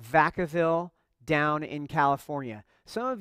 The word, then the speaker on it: Vacaville: Because while we called it Vacaville, it's better pronounced in the Spanish Vacaville, and vaca means cow.